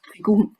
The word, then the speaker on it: Qigong: It's pronounced Qigong in Chinese.